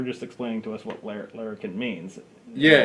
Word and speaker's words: Larrikin: CCP Larrikin. Larrikin. Yes. So it's not larynx, like I said in our previous.